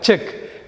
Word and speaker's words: check: இந்த நெக்ஸ்ட் வார்த்தை செக். இதுக்கு 2 அர்த்தம் இருக்குது. ஒன்று பரிசோதனை, சோதிக்கிறது, டெஸ்ட் பண்ணுறது. இன்னொன்று காசோலை. இந்த 2 விஷயத்துலையுமே CHECK. நீங்கள் இந்த சி இல்லாத மாதிரியே செக்குன்னு சொல்லணும். சியை உச்சரிக்கக்கூடாது. எழுதுகிறப்ப மட்டும் CHECKன்னு போடணும்.